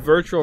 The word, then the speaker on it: Virtua: Like, I wanted to call it Virtual Fighter, but it was Virtua. So it's not, let's go ahead and do this virtually. It's Virtua-y, if you were to say it like that.